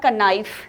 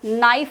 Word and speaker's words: knife: यदि हम के पर जाएं तो उसका उच्चारण होगा कनाइफ, लेकिन यहाँ पर नाइफ उसको बोला जाता है।